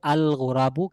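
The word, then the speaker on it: الغراب: যদি গোরাবুন শব্দের শুরুতে আমরা আলিফলাম নিয়ে আসি নির্দিষ্ট করার জন্য তাহলে সেক্ষেত্রে আমাদের বলতে হবে আল গোরাবু কাকটি, তাহলে লামটা উচ্চারণে আসতেছে, লক্ষ্য রাখবেন।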